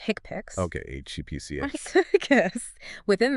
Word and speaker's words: HCPCS: First, there's the healthcare common procedure coding system or HCPCS, often pronounced hickpicks.